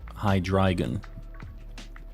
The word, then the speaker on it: Hydreigon: so uh Dino zvilus High dragon it's like the number of heads one two three in German I think that's sweet somebody